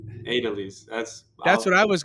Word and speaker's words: Aidelys: And and I would say I don't sorry I I still don't know how um how do you say it again? Adidelis but the Americans call me. Adelise.